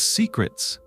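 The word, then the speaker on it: Seacrets: The waitress was like, "Hands down, it's Secrets." Now this place is spelled S-E-A-C-R-E-T-S, like the sea, and it is the most popular destination in Ocean City.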